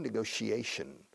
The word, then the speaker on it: negotiation: Negociación, negotiation. Mucho sh. Negotiation. All right, so they've been